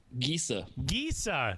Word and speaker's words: Gesa: Gesa Stadium.